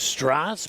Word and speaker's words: Strass: As the proper pronunciation is Strass, but a nice opportunity for that young man to get his hands on the ball.